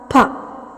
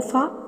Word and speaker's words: ഫ: ഖ ഛ ഠ ഥ ഫ ഉച്ചരിച്ചാലേ മനസ്സിലാകും ഇവിടെ ഇത് ഫ അല്ല ഫ എന്നാണെന്ന് കൃത്യമായിട്ട് മനസ്സിലാക്കാം പലരും ഇത് ഫ എന്നാണ് ഉച്ചരിക്കുന്നത് ഇതിനെക്കുറിച്ച് പിന്നീട് കൂടുതൽ പറയുന്നുണ്ട് മലയാളത്തിൽ ഫ എന്ന ഒരു ഉച്ചാരണം ഇല്ല ഫ എന്നാണ് ഉള്ളത് ഇംഗ്ലീഷില ഉള്ള ഇപ്പൊ ഫാൻ